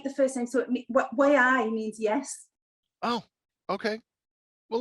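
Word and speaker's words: wey aye: It looks like W-E-Y-A-Y-E. Yeah. So like, way I. Way. That's how you pronounce it.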